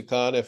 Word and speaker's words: Conniff: yes yeah so I just changed it to conif and then you know rayon if set the